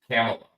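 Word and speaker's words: Kamala: put it right here it's Pamela with a K camela Pamela Pamela camela camela camela camela camela that's saying wasn't it no I saying Camila Camila yeah camel all right Cel thank you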